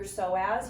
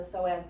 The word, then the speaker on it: psoas: One of your hip flexors is your psoas. You maybe have heard of the psoas before. If you've ever seen it written, it has a silent P in front of it.